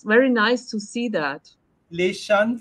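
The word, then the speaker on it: Leaxen: Leshan Freitas, I know. Your pronunciation is right.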